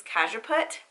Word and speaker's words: Cajeput: And then I had to look up how to pronounce this one. I've never heard of this. It's Cajeput.